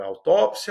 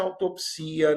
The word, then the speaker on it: autópsia: São palavras de dupla prosódia ou de pronúncia optativa, tá bem? E você pode falar autópsia, autopsia, necrópsia e necropsia.